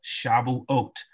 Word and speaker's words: Shavuot: of weeks also called shavuot for those who want to know how to spell shabble oat is there on the screen for you again that's the hebrew pronunciation of the feast of weeks now the feast of